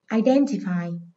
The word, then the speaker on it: identify: Từ này có hậu tố là ice, trọng âm dịch chuyển 3 âm tiết từ cuối lên.